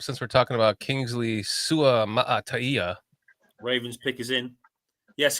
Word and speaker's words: Suamataia: for 2 months is when you see a Samoan name that you have to pronounce all of the vowels like as you would say the vowel. Like so, Kingsley would be Suamataia.